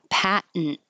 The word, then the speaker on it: patent: a a syllabic in patent when I go up for the T Pat I hold it Pat and then I make the N noise patent and it's usually used